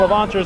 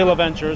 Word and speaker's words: Levanture: Now, Levanture's not that hard a name to Levanture. pronounce. You can do it. Some people say Leventure, so if you want to go Leventure, you can.